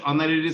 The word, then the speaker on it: honorary: Dash honorary secretary gets no salary for holding the post. Honorary. N. Yes, N is proper. H is silent here. H, honor, we don't say honorary, but say honorary.